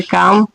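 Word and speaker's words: calm: अगला है काम यानी कि एम के पहले एल आ गया तो इसीलिए एल साइलेंट हो जाएगा। तो इसको बोलेंगे काम।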